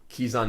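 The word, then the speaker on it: Kezan: Uh the sort of the new Kizison Mystic, which I know everyone always pronounces as Kzon mystic, but I'm just going to keep pronouncing it Kizison in part because it tells people, but also that's just how I always naturally pronounced it.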